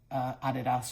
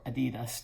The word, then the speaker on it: Adidas: I don't think, I'm not trying to be, I know I look like a walking advertisement for Adidas or Adidas, depending on your pronunciation.